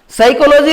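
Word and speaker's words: psychology: साइकोलॉजी में spelling तो प्रारंभ होती पी से, जबकि उसको बोला जाता है स से।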